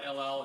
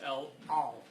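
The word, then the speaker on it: El Al: Like, for example, the airline of Israel is spelled with an ayin, so it's not LL, it's L-Al. It's got that guttural sound.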